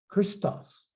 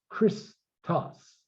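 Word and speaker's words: Χριστός: There's chi, ristos. No, that's not the way we say that. We'd say Christos. That's one syllable. Christos.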